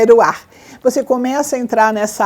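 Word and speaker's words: רוח: Ru é com R no começo, é que a pronúncia do R em hebraico é Ruach.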